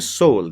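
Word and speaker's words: Seoul: The pronunciation is सोल।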